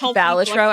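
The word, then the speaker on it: Balatro: Hi, it's pronounced Balitro actually.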